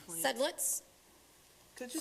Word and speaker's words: Sedlitz: Sedlitz. Could you spell it? Sedlitz, it's S as in Sam, E-D as in David, L-I-T-Z as in zebra.